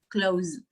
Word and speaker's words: clothes: Well, what I have heard, they say clothes or clothes, right? But check. If we show them the phonemic transcription, you can teach them how easy it is to pronounce this word. It would be clothes.